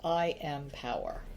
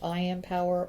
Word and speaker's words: Impower: always be I am all right so it's I am power that's exactly what it says even though it's called m is as in m power right it's pronounced I am and it's pronounced I am power or power but it's i m p o